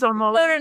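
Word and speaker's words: Amodei: He says Amodi. No. Brian says it because that's how his name is pronounced, right? You do the emphasis on the second syllable, so I have to hear Brian in my head say.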